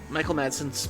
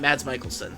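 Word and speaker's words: Mads Mikkelsen: I think his I think Michael Mads uh Michael Madson's backstory if I get his name wrong. No, wait. Mads Michaelelsson, that's his name.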